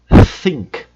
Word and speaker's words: think: A pronúncia do th. Olha só como isso fica em algumas outras palavras. Think, pensar.